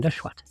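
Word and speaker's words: Nesheiwat: That's how she pronounces her name, Neshwat.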